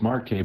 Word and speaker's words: Marquez: in flooding because well that is pronounced Marque by the way uh forget that Z exists Mar what he said